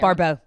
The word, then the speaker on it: Baribeau: I always say Baribeau. Baribeau. You're like a pinup girl, like Woo-woo. Baribeau. Woo-woo-woo. Oh, I love it. Baribeau. Okay, I always say Baribeau.